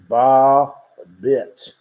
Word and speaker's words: Babet: But, in Britain, I believe you have Storm Babette, pronounced Bar-bit.